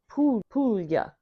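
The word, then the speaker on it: Puglia: You pronounce it Pulya.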